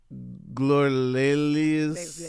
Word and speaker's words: Glorelys: Glorelys.